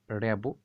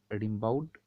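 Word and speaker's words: Rimbaud: যেহেতু তিনি French poet, তাই তার নামটা আমরা এইভাবে উচ্চারণ করলাম। আমরা এইভাবে বলতে পারি, তার নাম আর্থার রিমবাউড বা জিন নিকোলাস আর্থার রিমবাউড।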